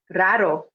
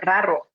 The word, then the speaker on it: raro: Is for weird or rare, raro, rara. This one is definitely a good one if you want to help practice the pronunciation of your R in Spanish with rolling your R's, or trilling it's called.